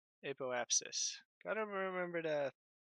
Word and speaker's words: apoapsis: As soon as we hit our apostasis, well, just before, maybe like here. So we can burn at the top of our apostasis, is that what it's called? Apoapsis.